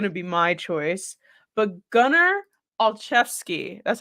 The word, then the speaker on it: Gunnar Olszewski: But Gunnar Olszewski. That's how you say it, right? I hope I'm saying it right. Yes. Yep. Gunnar Olszewski.